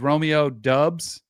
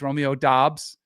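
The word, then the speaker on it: Romeo Doubs: West football games and referred to him as Romeo dubs and not once did I get corrected from anybody from the Mountain West or his now he's Romeo dos um so you got to stay up with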